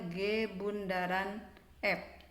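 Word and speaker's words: g ∘ f: f nah dalam matematika ditulis g o f atau seperti lambangnya di atas dibacanya G Bundaran F nah ini penjelasannya nah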